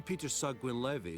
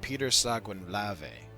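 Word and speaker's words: Peter Saar Gwynleve: Captain Peter Sagwin-Levy is in the tower. Turn right, past the gate. So that's how you pronounce it. Peter Sagwin-Lave. That's a lot more elegant than how I pronounced it earlier.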